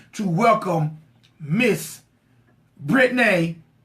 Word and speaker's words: Brattnae: Basically, you could just call me Brattnae or.